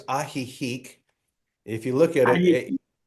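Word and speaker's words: Ajijic: So, I'll say it's ahik. If you look at it, a j i j i. It looks like a jik, but it's actually pronounced aihik.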